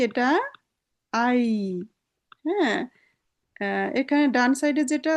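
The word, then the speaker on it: Ei: এটা আই। হ্যাঁ, এখানে ডান সাইডে যেটা আছে ওটার ইংলিশ উচ্চারণটা নিলেই উচ্চারণ সঠিক হয়ে যাবে।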